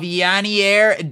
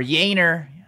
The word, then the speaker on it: Yainer: Base auto of Yanier Diaz. Or Yainer, I think that's how you say it. Yainer Diaz.